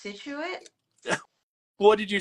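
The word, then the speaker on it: Scituate: It took me forever to know that it was pronounced Situate.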